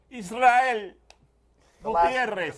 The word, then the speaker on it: Israel Gutierrez: How do we pronounce his name, Poppy? Israel Gutierrez.